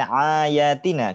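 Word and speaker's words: آياتنا: Ayatina pakai ain atau pakai alif? Alif Ustaz. Min ayatina gitu bacanya. Enggak, min ayatina, bukan ain, berarti, bukan ain. Bukan, Iya. berarti ketemu huruf Ya, ketemu huruf atau hamzah ya.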